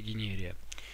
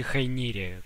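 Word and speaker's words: Hyneria: собственно, и получила название Генерия. Ну или Хайнерия, как она произносится.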